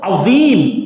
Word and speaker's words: عظیم: ہوا ہے۔ اور عظیم جو آیا وَلَهُمْ عَذَابٌ عَظِيمٌ، یہ صحیح تلفظ اس کا یہ ہے۔ عظیم یہ حقیر